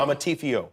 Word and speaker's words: Amarteifio: I hope I pronounced your name correctly. Did I get it? Perfectly. Amarteifio.